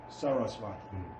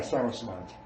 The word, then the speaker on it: Saraswati: How to pronounce it? Saraswati. Yeah, Saraswati.